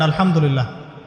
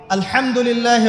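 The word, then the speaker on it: الحمد لله: আপনি পড়ছেন আল্লাহু আকবার আলহামদুলিল্লাহি রাব্বিল আলামিন এইতো আপনি পড়ছেন আলহামদুলিল্লাহ শব্দটা কি আলহামদুলিল্লাহ এই হা এর মাখরাজ কোথায় হা এর মাখরাজ কোথায় বলেন একজন কণ্ঠনালীর মাঝখান থেকে এখান থেকে আপনি উচ্চারণ করছেন আলহামদুলিল্লাহি রাব্বিল আলামিন অর্থ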